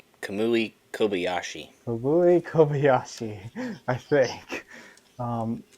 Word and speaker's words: Kamui Kobayashi: I said Kamui Kobayashi.